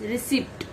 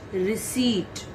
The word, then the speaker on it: receipt: most of the time most of the students pronounce it as receipt that is wrong beta you have to pronounce it receipt i hope you understood all the words okay